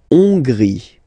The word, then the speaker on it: Hongrie: La Hongrie. So remember, H doesn't exist, so you don't pronounce it. So it starts with O-N, on, and then gris. Final E, not pronounced.